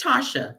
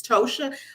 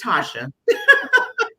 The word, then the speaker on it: Tosha: name for me it's tasha you pronounced it correct yeah a lot of people they see the t.o and they think it's tosha like my mom and dad were different so it's tasha look small i completely